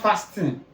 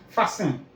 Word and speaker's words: fasten: Fasten your seatbelt. It's not fasting. Fasten.